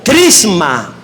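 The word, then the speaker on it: χρῖσμα: que se llama o se pronuncia como crisma crisma dos palabras una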